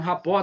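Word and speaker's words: rapport: A palavra rapó e a pronúncia é essa mesmo, rapó. Tá? Tem pessoas assim: "Ah, R, não, ela ela é de origem francês e significa criar harmonia e sintonia com o outro.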